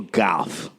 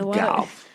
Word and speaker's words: Gauff: Coco Gauff. Looks like Gauff. We'll go with Gauff.